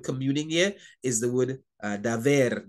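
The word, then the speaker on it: דבר: The word communing here is the word daver, daver. Yes, he pronounces it B like a V, just like in Spanish.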